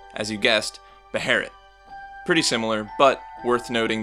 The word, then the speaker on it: Beherit: But alas, the correct English transliteration is this, and it's pronounced, as you guessed, Beherit.